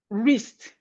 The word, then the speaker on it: wrist: Whenever we have W and R, Whenever you have W and R at the beginning of a word, the W is silent. So we have it in words like right, wrist, wrong, rap, wrinkle, wrinkle.